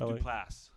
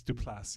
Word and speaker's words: Duplass: It's pronounced Duplass. It's Duplass.